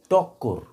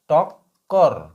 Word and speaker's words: টক্কর: এরপরে যে শব্দটাকে লিখবো সেটা হচ্ছে টক্কর। ট কয় কয় র টক্কর টক্কর তাহলে উচ্চারণ কেমন হবে? ট কয় হসন্ত টক এই দুটো বসি করে উচ্চারিত হবে। এই দুটো বেশি করে উচ্চারিত হবে। টক্কর টক্কর এইটা হচ্ছে যুক্ত বর্ণ।